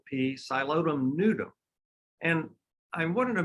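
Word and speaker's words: Psilotum: in Texas it's called a whisk fern it's pronounced xylodum that's a silent piece xylodum noodle and I wanted to mention its scientific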